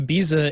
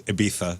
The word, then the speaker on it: Ibiza: Is there a chance they're saying it's a gaycation thing to Because I mean, Ibiza, it's just First of all, say it right. It's Ibiza. Ibiza.